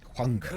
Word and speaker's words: Huangbo: Huangbo. That's how you say it. Huangbo, Huangbo. Cheetah.